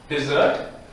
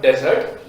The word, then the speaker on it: dessert: The first one that I've taken today is this is dessert. This is dessert. Dessert. This is not desert. Desert is totally different.